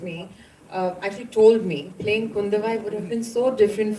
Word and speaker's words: Kundavai: So obviously you're playing Princess Kundabi. I hope I got the pronunciation right. Kundavai. Oh, Kundavai. I'm so sorry for that.